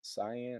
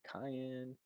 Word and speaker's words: cyan: here should color here cyan or cayenne depending on how you like to pronounce it and change object layer